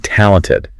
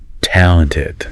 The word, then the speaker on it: talented: So, let's practice saying talented. Really emphasizing that first syllable. Talented.